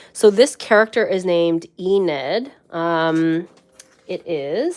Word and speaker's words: Enid: on the spelling so this character is named ened um it is spelled like this e nid there we go